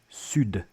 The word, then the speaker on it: sud: strike show the D the D is silent when it's the very last letter of a French word with only one exception sud South and of course